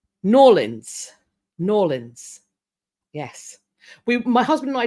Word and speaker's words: New Orleans: And Pamela has given me the pronunciation. Norlins.